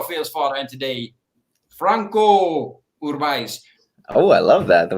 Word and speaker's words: Franco Urbaez: I try to say it, like kind of like Spanish way, Uh-huh. I heard you say it. It was, how do you say that? Because I watched that video. I do it the English. I do it English style for everybody.